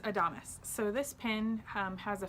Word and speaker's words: Adamas: So it's pronounced Adamas.